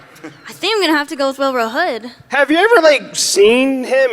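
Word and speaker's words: Wilrow Hood: I freaking love Wilro Hood. And that is how you say it.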